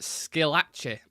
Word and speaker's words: Schillaci: Nicky's name is pronounced Schillaci. Oh, Schillaci, yeah.